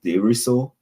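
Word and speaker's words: Desruisseau: I am from Diso. That is spelled D E S R U I S S E A U.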